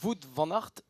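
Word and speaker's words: Wout van Aert: là c'est vrai que la prononciation il va falloir faire attention parce que voot vanart et également vaner harart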